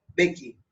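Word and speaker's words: Mbeki: बाद में था वो बेकी। यहाँ एम साइलेंट है।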